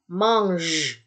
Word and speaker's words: mange: J ini kalau dia bertemu dengan E ya, atau kalau dia bertemu dengan I, maka dia terbaca sebagai J. J. Ya, J, bunyi asli. Ya, bunyi aslinya kan J. Ya, dia terbaca J. Ya, maka ini diucapkan mange.